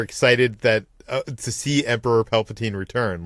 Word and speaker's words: Palpatine: Abrams, for his part, says in a new interview with Empire, some people feel like we shouldn't revisit the idea of Palpatine.